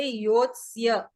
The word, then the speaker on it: योत्स्य: संस्कृत और हिंदी में अंतर ये है कि हम संस्कृत में पूरा उच्चारण करते हैं अक्षर का, जैसे योत्स्य है ना, योत्स्य।